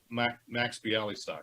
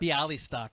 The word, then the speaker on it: Bialystock: Max Bialystock. Bialystock, that's right.